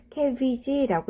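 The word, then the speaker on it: CABG: 심근경색 환자에서 심근 부위에 혈액을 공급해주기 위해서 관상동맥 우회로 수술이라고 하는 것을 하거든요. 캐비지라고 읽는데요.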